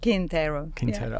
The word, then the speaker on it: Quintero: Quintero. Yeah. Almost. You even told me how to pronounce it as well.